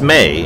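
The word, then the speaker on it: Mai: Avatar The Last Airbender pronounced Mae in there somehow even though it's spelt mine yeah well I mean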